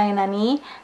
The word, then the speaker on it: なになに: Biasanya dibacanya nani-nani.